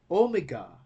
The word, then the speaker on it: omega: Psi is pronounced like ps in the psalm, and our last letter omega, that is pronounced like O in woad, in go.